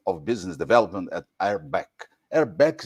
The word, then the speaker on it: RBAC: RBAC is the correct pronunciation.